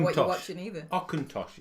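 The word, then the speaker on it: Auchentoshan: Aucintosh, it's pronounced.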